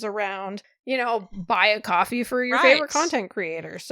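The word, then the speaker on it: Ko-fi: coffee yes i know i just spent the last year and a half pronouncing it kofi because i thought i'll be clever i don't know how to pronounce this thing i'm going to go on youtube and see how other people pronounce it and everybody called it kofi but apparently that's not what it is it's called coffee which kind of makes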